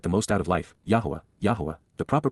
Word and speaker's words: Yahowah: walk to get the most out of life, Yahowah, Yahowah, the proper pronunciation of Yahowah, our Eloah, God as directed